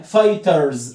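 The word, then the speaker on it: fight: الاي جي اتشب مشخ لما تلاقي الاي جي اش ركز معايا التلات حروف دول لما تلاقيهم مع بعض هتنطق الاي باسمها او ان لات حروف ايجي اتش زي كلمه ايه زي كلمه فاي فايت زي كلمه راي رايت الاي جي اتش هنا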